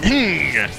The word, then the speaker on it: Hnng: See, I pronounce it Hnng. Every time I say his name, I clench my heart and I say Hnng. It's the sound you make whenever you see a cute girl walking up to you.